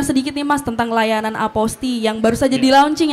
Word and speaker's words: Apostille: Jadi Aposti ini sebenarnya tulisannya kalau kita eja itu APOSTILLE, apostile gitu kalau dibaca ya. Tapi cara baca yang benar itu adalah Aposti. Aposti ya Mas ya? Aposti, jadi LLE-nya itu nggak dibaca, hilang seperti itu.